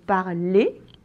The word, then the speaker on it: parler: Oui, mais par exemple, le verbe parler, hein, ça se finit en R de Lucifer et on prononce pas le R.